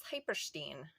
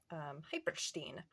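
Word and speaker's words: hypersthene: So this is Hyperstein, and I have to say it like that in case you try to phonetically look it up. Hyperstein.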